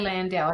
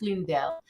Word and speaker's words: Lundell: always say it wrong I always say Landau I don't know why but I know it's lundell but this is care of